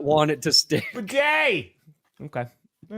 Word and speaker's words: Badie: With bidet. That's bidet in motion. For a small horse. Hey, we were like, this announcer's saying his name wrong. He's calling Tyler. He's calling him Bidet. Not Badie, not Badie.